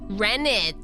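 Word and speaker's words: rennet: they're really cute okay Ren it is what it's is how it's pronounced renit it's a complex set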